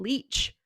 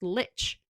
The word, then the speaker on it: lich: So people are saying he's saying leech, but it's not pronounced leech, it's pronounced lich.